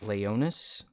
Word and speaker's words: Leonis: saying my name uh the name i use for the channel is uh leonis that's the that's how you pronounce it uh but some of